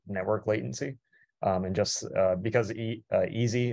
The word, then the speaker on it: EaaSI: And just because easy is the way the acronym's pronounced, the way it works is, it's essentially streaming virtual machines across the internet through a web browser.